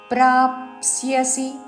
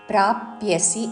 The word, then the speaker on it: ప్రాప్స్యసి: మీద ఆఘాత హతోవా వా ప్రాప్స్యసి ప్రాప్స్సి ప్రాప్యసి అనకూడదు పా కి సవత్తు యవత్తు ప్రాప్స్సి హతోవా ప్రాప్స్యసి సి హ్రస్వము